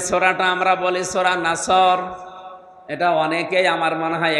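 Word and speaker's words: نصر: নুন সাদ র নাসর, নাসর মানে সাহায্য, এখানে সোয়াদ মুখ দল করে উচ্চারণ করা লাগবে। সোয়াদকে সিন দিয়ে বললে অর্থটা আকাশ পাতাল পাল্টিয়ে যাচ্ছে।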